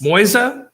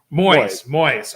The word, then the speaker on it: Moise: Moise? That's how you say it? Moise.